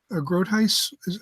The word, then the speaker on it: Groothuis: the years, including Doug Groothuis. Groothuis? Am I pronouncing it? Yeah, I mean, he came out, I mean, he was very gentle in his response.